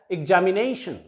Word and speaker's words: examination: are always nouns, and we shall pronounce it as examination. Examination. हम इसे examination नहीं कहेंगे, it will be pronounced as examination.